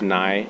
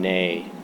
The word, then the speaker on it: Ney: And it's pronounced Ney in Arabic, and Ney in Turkish and Farsi.